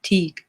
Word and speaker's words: Teg: just so you know teg is pronounced with a long eye teague to with teak good to know thank